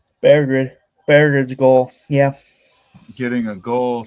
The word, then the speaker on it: Berggren: It's pronounced Berggren.